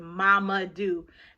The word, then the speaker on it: Mamadou: so like for example if your name is mama do i even though it's not spelled the way it sounds i like to write